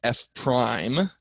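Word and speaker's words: f′: That means f prime is how we pronounce that. No, that doesn't mean it's a transformer, but we just say f prime there.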